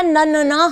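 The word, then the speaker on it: नन्हा: यहाँ देखो ये लिखा न न न हा। क्या ये सही है? हमें इसे बोलने में सही लग रहा है? नहीं, इसका सही उच्चारण है नन्ना।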